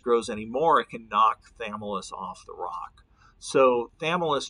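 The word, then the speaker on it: Chthamalus: two species of barnacles thus is how you pronounce the small one it's got a silent CH uh the balanus is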